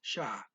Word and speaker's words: siya: Speaker blends siya and ang here, and the siya is pronounced sha.